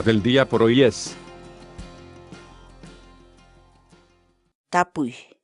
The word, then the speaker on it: tapuy: de videos en la que te enseñamos a pronunciar algunas palabras en quechua Así que nuestra palabra del día por hoy es tapuy tapuy tapu la palabra quechua en español significa preguntar